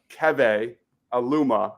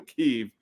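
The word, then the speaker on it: Keve: uh it is uh Kev Aluma I've been mispronouncing his name for the last like week so I apologize been calling him keev but Kev Aluma I would like to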